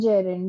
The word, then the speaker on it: gerund: The pronunciation is gerund. Gerund is wrong.